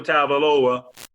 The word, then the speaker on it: Tagovailoa: It's 2020, and if Tua Tagovailoa, did I say it right?